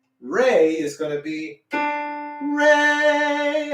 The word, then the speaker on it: re: good then we have the next note r e r and e spell rey everybody say re